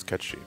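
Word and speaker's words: Cait Sith: as as it said has it's pronounced let's pronounce cut sheet because she's Gaelic I felt so betrayed [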